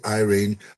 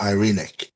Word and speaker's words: Irene: Irene uh the proper Greek pronunciation is irreic but this been translated to English now so say Irene or Irene right but yeah whatever um